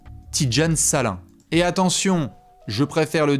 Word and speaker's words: Salaun: salin hein bien évidemment S a l a u n c'est pas Salone c'est salin hein normalement là-dessus il doit